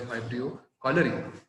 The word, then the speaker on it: Vibrio cholerae: Now again, you have to take care of the pronunciation, that is, it is the pathogen called as Vibrio cholerae.